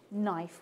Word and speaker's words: knife: we say night KNE knife we don't pronounce the k for chorer and Shakespeare that K was a pronounced letter they would have said as we heard earlier ear this week kenif kite K we don't